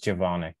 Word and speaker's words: Zvonik: I can never pronounce his last name, but Robert Zvonik. Javonic. Javonic. Uh-huh. Like a J, kind of.